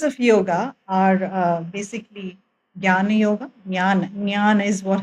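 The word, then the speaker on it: jnana: that uh history so Gana yoga is one the right way to pronounce is nyana okay but I would say Gana so it becomes easier for everyone to kind of search for it um that is the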